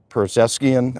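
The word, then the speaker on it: Pezeshkian: Same with the Iranian President Perzeskian, I believe is how you pronounce his name, and Ayatollah Khamenei had that look into it.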